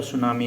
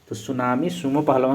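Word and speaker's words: tsunami: spelling सुनामी के spelling T से शुरू होता है टी साइलेंट रहता है कभी भी सुनामी likhiyega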